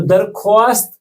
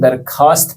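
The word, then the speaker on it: درخواست: ये लिखे तो वाव के साथ, वाव मादूला है यहाँ पे, यानी कि जिसे हमें साइलेंट रखना पड़ता है। तो दरख्वास्त नहीं पढ़ेंगे, इसे हम दरखास्त पढ़ेंगे।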